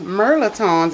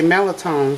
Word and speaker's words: mirliton: supposed to be pronounced merlon m l i t o n s but we in Louisiana dropped the r and we just say melatone so everybody know what